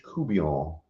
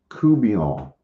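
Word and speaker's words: courtbouillon: can you spill it it is not spilled at all like it's pronounced it's a Louisiana or it's a Cajun dish Creole dish catfish kubian I don't know if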